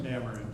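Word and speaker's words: N'Amerind: If anybody knows the proper pronunciation, please help me out. Is it Namarind? Is it Namarind? Namarind.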